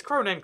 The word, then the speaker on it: krone: the doodle subjet and the Norwegian krone crown its cronin crown they both accept pronunciations I always say a